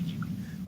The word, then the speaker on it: Ghibli: I've updated my pronunciation to Ghibli. Quick side note, Phil, I did a little bit of research on how to pronounce this. Allow me to cook a little bit. It's Ghibli, isn't it? No. So, your giblets.